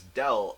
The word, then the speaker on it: del: triangle you can just call it grad F it can also be pronounced as del F I don't exactly know